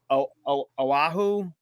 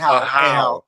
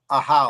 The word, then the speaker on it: Ahau: But Oahu, I don't know how Yeah, you we're pronounce it. Ahau. Ahau, that one.